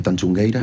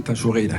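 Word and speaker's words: Tanxugueiras: Por ejemplo, las chicas de Tanchungueira, espero haberlo pronunciado bien. Ayúdenme, por favor. ¿Cómo es? Sí, Tanchugueira. Tanchugueira.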